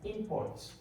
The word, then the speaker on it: import: Then you have import.